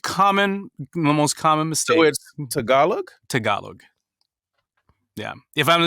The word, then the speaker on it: Tagalog: pronounce it too Tagalog I know everybody says tagalong I blame Girl Scout cookies yeah I'm like oh